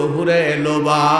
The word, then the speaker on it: হুরে লোবা: যে হুরের নাম হলো হুরে লোবা। একবার উচ্চারণ করেন তো, হুরে লোবা। ল করে লো, বয়া করে বা, কি হলো? লোবা, হুরে লোবা।